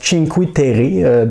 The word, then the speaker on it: Cinque Terre: que ça se prononce Cinque Terre dans la langue, j'ai oublié le nom de la région, je pense que c'est en Italie. Alors c'est bien ça, c'est en italien, donc Cinque Terre.